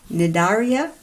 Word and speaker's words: Cnidaria: the 2 phylums, and this word is actually pronounced Cnidaria, and it's the phylum that jellyfish belongs to.